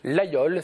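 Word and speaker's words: Laguiole: artisanat avec ce fameux village de laayol c'est ainsi qu'on le prononce célèbre pour son couteau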